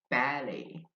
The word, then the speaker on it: ballet: Uh from French we have ballet ballet. Dribb is silent in ballet by the way.